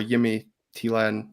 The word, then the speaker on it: Jimmy Thelin: across the weekend that Jimmy theen or yimy tan if you want to be one of those people that pronounce things properly um looking at anybody